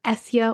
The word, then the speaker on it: Esja: wine maker and owner of essia wines it's spelled esja I first tried Tanya's